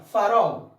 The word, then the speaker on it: farol: Farol. Farol. Última sílaba tônica.